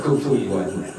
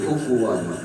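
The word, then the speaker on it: كُفُوًا: Sebab rata-rata memang orang pasti bacanya alif kufuan. Wunnya hilang padahal di situ ada huruf wau wau wan win wun. Ya bukan an in un kufuan tapi kufuwan. Wajib wunnya kebaca ya.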